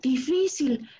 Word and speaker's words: difícil: En la palabra difícil, recuerden que la palabra difícil lleva acento en esta I. Difícil. Vamos a pronunciar la palabra difícil.